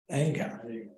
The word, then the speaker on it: Iyengar: Iyengar.